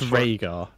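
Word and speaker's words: Rehgar: official pronoun pronunciation guy it's RAR RAR same as same as Raina but Rainer is a y and yes but it's still pronounced the same and we have SK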